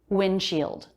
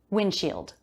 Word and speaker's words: windshield: of the video windshield notice here the d comes after an n before another consonant sound it's very common to drop that d sound and i did windshield windshield laying chatting maybe you